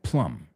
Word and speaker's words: plumb: No plum, right, plum. And the second one, plum. O sea, absolutely. De hecho, un fontanero, I told you that you would recognize it. Y así ves que la B no se pronuncia.